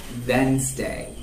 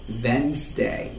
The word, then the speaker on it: Wednesday: pronounce this word like wednesday wednesday the d is silent so that's all about